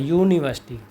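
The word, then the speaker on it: university: क्यों लगा है, क्योंकि यहाँ पर जो इसका प्रोनाउंसिएशन है यू से शुरू होता है, यूनिवर्सिटी, तो यहाँ पर ये ऐसे शुरू होता है जो कि वाई देती है हमारी यह की आवाज़ ज़्यादातर, तो इसलिए क्या है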